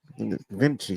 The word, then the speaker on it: Vinci: Vinci, that's how you say it. Vinci. Like Leonardo Vinci.